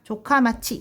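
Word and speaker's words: 城下町: 그래서 다이묘성 아래 마을을 이루고 사는 성화정을 발음 어떻게 한다? 조카마치.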